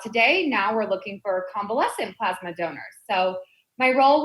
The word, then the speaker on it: convalescent: to talk about, and I'm probably going to pronounce this wrong, so you'll have to correct me again, but Okay. convalescent, am I saying it right?